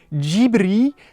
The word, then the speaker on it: Ghibli: Il chope la personne qui a dit ça, il fait "Non, excusez-moi, mais en fait ça se prononce gibri parce que c'est quand même un studio japonais.